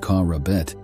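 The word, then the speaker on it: Q'R'Beth: These writings became known as the Q R Beth, or the Words of the Creator, pronounced Q R Beth.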